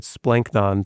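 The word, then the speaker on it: σπλάγχνον: Comes from the noun splanknon, right? And you got to say it like that because it's splanknon. Splanknon. It's got to come from deep within because that's actually like what the word means.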